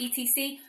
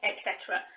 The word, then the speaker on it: etc.: way so i know some people try and pronounce the etc we do not say that it's always etc and it means and everything else and we